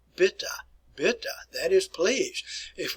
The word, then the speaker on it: bitte: Remember, E's are always pronounced, so it is bitte.